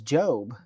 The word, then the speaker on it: Job: job or getting a job? I mean, what is this, like a career youth camp? What is this? She's like, "No, it's Job. It's from the Bible."